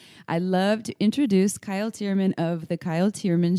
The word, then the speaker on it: Thiermann: last name is difficult thi erm a and n pronounced chairman uh what is here